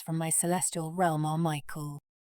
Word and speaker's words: Michael: My two eldest sons from my celestial realm are Michael, truly pronounced more like Mikhail and Hel-El.